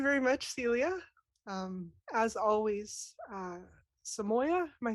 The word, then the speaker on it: Samoiya: As always, Samoya, am I saying it correctly?